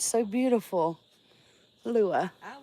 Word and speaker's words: Lua: L-U-A. Let's see if it's right. Yes, Lua. I love that name. It's so beautiful. Lua.